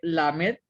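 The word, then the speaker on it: למ״ד: y precisamente inicia con una lamed y una kamatz y forma la sílaba la. Luego está una mem y una segol que forma la sílaba me y una dalet al final que suena como de. Entonces dice la med.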